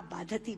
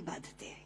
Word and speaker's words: बाधते: क्योंकि बाधती शब्द का अशुद्ध उच्चारण आपने किया है, ये शब्द बाधते होना चाहिए।